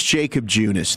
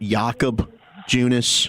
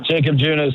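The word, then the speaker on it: Jakob Junis: Okay, so it is Jacob Junice. Then, Jared, that's the correct pronunciation because Kevin has tried to throw out Yakob Junice.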